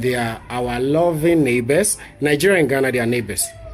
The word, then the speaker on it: Niger: So that's how you say it, Niger.